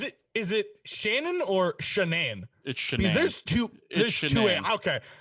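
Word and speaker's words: Shanann: in read it as Shannon and I thought the my narrator had a speech impediment no it is shenan so early specific speech impediment that they only pronounce Shannon wrong like it upset me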